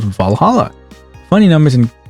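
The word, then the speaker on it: VA-11 HALL-A: know what I mean the name sounds silly and a bit hard to pronounce good thing it's actually called valhala funny numbers and letters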